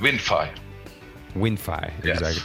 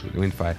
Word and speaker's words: WinFi: called one fear one fire how do you pronounce it but wind fire wind fire so it's pretty much a Wi-Fi scanner for